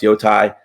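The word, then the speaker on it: Yōtei: all just come together and say that it's pronounced Yotai, and there's no other pronunciations out there.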